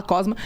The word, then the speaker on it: Cosma: Cosma, como se escreve, como se fala, Cosma.